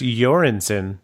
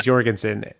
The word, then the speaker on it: Göransson: my bad yours alright everyone says Jorgensen the only reason that I say you're Anson is because he told me that and if that is